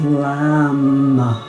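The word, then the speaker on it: लं: The one-syllable Sanskrit mantra is, for the root chakra, is Lam, with an L.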